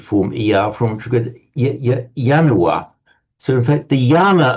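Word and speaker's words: ianua: It's like a a symbolic almost a symbolic ritualistic right when we pronounce yanua in Latin.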